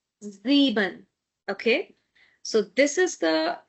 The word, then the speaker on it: sieben: see number seven then number seven is sieben. sieben because again after s we have a vowel and because of this vowel the sound of s is going to be z sound sieben.